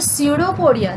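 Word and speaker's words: pseudopodia: त्यानंतर सेकंड आपल्याला कॅरेक्टरिस्टिक्स बघायचं आहे तर सेकंड कॅरेक्टरिस्टिक काय दिसेल, दे हॅव द स्युडोपोडिया. तर स्पेलिंग बघा, PS आहे.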